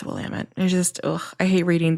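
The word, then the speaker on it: Willamette: I know that that's the correct pronunciation. So earlier in the episode, I think I said Willamett. I know it's Wamut.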